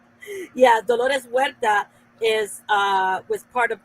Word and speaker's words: Dolores Huerta: it for a long time who is the lord through hereta yeah you're just saying it weird that's why we didn't understand we call them seizures i pronounced it yeah dolores huerta is uh was part of that she worked